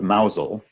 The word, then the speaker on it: Mousehole: the distance on the right the town of Mazal which is spelled mousehole that pronounced nozzle has a very